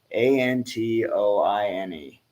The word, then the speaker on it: Antoine: me to spell yes a-n-t-o-i-n-e and talk you would say Antoine um yeah no he